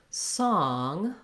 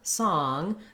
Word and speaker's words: song: Moving to song, song. This one is closer to that ah vowel I was talking about, but we use, rather than an open vowel here, we are a little bit rounded.